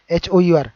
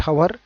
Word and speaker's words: hour: HOUR నా బై ద వే చాలా మంది దీన్ని హవర్ అంటూ ఉంటారు. Okay, HOUR ఇట్స్ నాట్ హవర్, H is silent here, it's hour.